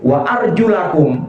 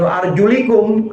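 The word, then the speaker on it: وأرجلَكم: begitu ulama ulama mengajarkan ini bacanya famsahu biruusikum wa arjulakum bukan wa arjulikum atofnya biruusi atofnya kepada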